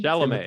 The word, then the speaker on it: Chalamet: Chalamet.